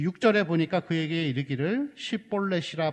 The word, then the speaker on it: 쉿볼렛: 6절에 보니까 그에게 이르기를 쉿볼렛이라 발음하라 하여, 여러분 여기서 이 쉿볼렛이라는 단어는 시내라는 뜻, 시내가라는 뜻입니다. 근데 쉿볼렛이라고 하는데 에브라임 사람들은 이 쉿이라는 발음을 잘 못했대요.